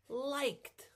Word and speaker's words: liked: Okay, then this one is liked, liked. Again, we got a D there, but we pronounce it like it's a T, liked.